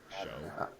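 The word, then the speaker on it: Shough: Show. Yeah, I don't know what it It's is. pronounced. Show.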